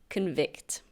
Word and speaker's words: convict: have the verb convict convict be careful with the pronunciation there is a noun with the same spelling and that's pronounced convict but this is pronounced convict to convict means to